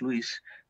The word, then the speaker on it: Lewis: Lewis, en España lo pronunciamos sin más Lewis, el autor de las Crónicas de Narnia y de las Cartas del Diablo de Scrutopo a su sobrino.